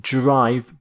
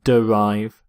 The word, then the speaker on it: derive: next word is derive derive not note that pronunciation not drive but dolive derive if something is derived from something else it